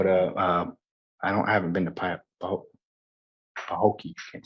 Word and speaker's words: Pahokee: Pahokee.